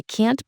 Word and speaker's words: can't: So next time you're saying can't, just give that T a little extra love and make sure your vowel sound is on point. I can't believe this or I can't go. Practice it with that clear vowel and that crisp T, you'll be golden.